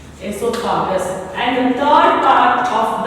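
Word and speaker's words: oesophagus: Sorry children, O is silent. Esophagus.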